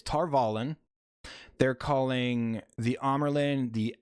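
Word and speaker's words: Tar Valon: Like, they're calling it Tarvalon. It's Tarvalon.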